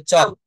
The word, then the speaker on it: chalk: যেমন CHALK, এটাকে আমরা চলক বলি, বলি না, এটা হবে চক।